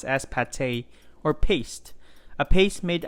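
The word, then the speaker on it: pâté: are making chicken liver paint just kidding it's pronounced as pate or paste a paste made out of forced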